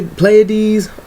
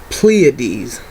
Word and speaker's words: Pleiades: right now but um I've heard people call it pades um ples pl Play play playes all kind of stuff the proper the proper way to pronounce his name is constellar pleades um pleades actually means a conspicuous